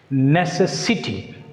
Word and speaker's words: necessity: Here we can apply the rule ITY. Here ITY is the suffix. When a word ends with the suffix ITY, it takes stress on the antepenultimate. So what is the meaning of antepenultimate? Third syllable from the end. Third syllable from the end. So here necessity. Where should we put stress? C. Necessity.